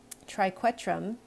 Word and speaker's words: triquetrum: the radius scaphoid lunate triquetrum so this is hard to pronounce sometimes but q-u-e is like the the q-u-e sound in question right triquetrum and then